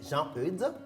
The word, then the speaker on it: Jean-Eudes: Aujourd'hui, nous fêtons les Jean-Eudes, Kokou, Akou, Tilano et Tilabalo.